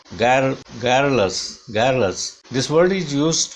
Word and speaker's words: garrulous: garrulous नहीं है, this is not o sound, this is a sound of weak sound of a, this is a sound, ga as in bad, garrulous, garrulous।